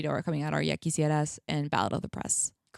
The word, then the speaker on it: Ya Quisieras: Yaki Sierras.